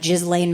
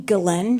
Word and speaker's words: Ghislaine: Like, I could not keep my eyes away from that Ghislaine Maxwell trial. Anyone? Jeffrey Epstein's partner in crime. Every time I say her name, someone's like, you mean Ghislaine? She's French. It's not Ghislaine. I'm like, she was a sex trafficker.